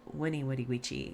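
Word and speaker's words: veni, vidi, vici: i conquered uh and yes it's winnie woody witchy you pronounce the v's like w's in latin uh or did he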